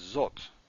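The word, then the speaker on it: זאת: the feminine singular is zot and it is spelled like this now you have an olive in here and you can't hear the olive so you just got to know it's there don't forget that alaf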